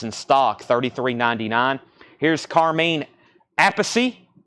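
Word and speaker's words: Appice: stock 33.99 here's Carmen apacy so just for clarification it's Carmine apacy and Vinnie a piece is that what we're is that what we're saying I know this is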